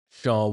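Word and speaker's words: Shawon: And then of course you've got Shawn Wan, Shawn Dunston. S H A W O N.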